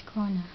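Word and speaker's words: krone: It's krona, but it's spelled that way, but it's pronounced as krona.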